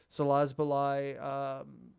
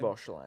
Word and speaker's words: Szoboszlai: If that lands to Szoboszlai... I think that's how you say his name. Szoboszlai.